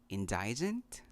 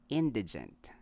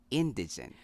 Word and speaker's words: indigent: And for the bonus word, did you read the word indigent? I often hear this word when people are talking about the qualifications to be indigent for a certain government Philippine program. The correct way to say this is indigent. Again, indigent.